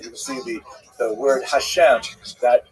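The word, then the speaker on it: השם: And the word Hashem, of course, is pronounced with the letter H, but there is no letter H in the Russian alphabet.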